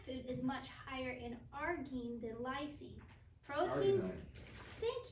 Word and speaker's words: arginine: The average plant food is much higher in arginine than lysine.